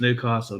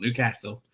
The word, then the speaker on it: Newcastle: that's right i said newcastle that's how it's pronounced newcastle not newcastle i'm gonna get ripped to schmitz for saying